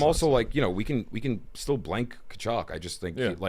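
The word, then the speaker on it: Tkachuk: And it sounds like the last name sounds like the sound you make when you throw a big rock in the water.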